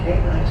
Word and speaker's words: Kiton: Continuing our journey, you'll notice a lane to our right leading to Kiton village, pronounced Kiton to distinguish it from another village named Knighton on the island.